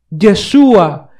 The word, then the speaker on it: Yeshua: Incluso Roma no consideró en dejarle su verdadero nombre o su correcta pronunciación, Yeshua, y lo transliteró a diferentes idiomas.